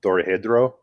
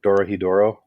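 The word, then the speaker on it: Dorohedoro: shrooms watching it is uh dore hedrow uh or dora hiduro sorry i mean pronounce it correctly not spanish it's [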